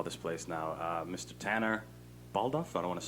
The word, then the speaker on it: Baldauf: Tanner Baldauf. I don't want to say your last name wrong.